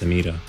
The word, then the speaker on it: Samira: even though I think her name is pronounced Samira but I feel like I get hit sometimes when I when I roll the R by people that don't